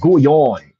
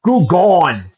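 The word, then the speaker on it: Gagnon: It's pronounced Gouillon. It's not Gouillon. You know, Michael Bisping pronounces it like an uneducated, you know, in British American. Gouillon. It's Gouillon. Gouillon. Gouillon. Say it with me. Gouillon. It's not Gougon. It's Gouillon. Bob March.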